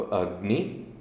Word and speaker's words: अग्नि: तो उसने कहा कि जैसे आपको इसमें देखेंगे तो अ जो है वो नीचा है और ग्नि जो है ऊंचा है। तो अग्नि, इस तरह से आपको इसका उच्चारण करना होगा।